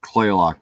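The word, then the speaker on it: Kalaloch: But the best campground is Calawatch, or Claylock as we call it, but it's spelled Calawatch.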